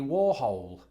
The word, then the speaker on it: Warhol: during a play Warhol. about Andy Warhol.